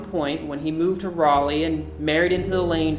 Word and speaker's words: Raleigh: We're not sure an exact reason why, but Moses Mordecai, at some point when he moved to Raleigh and married into the Lane family, changed pronunciation from Mordecai to Mordecai.